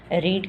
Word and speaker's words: read: वही होती है उसकी, रीड की जो प्रोनाउंसिएशन होती है वो डिफरेंट हो जाती है, रेड, इसको रेड बोला जाता है।